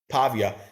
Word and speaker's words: Pavia: How do you pronounce it? Diego Pavia. Pavia.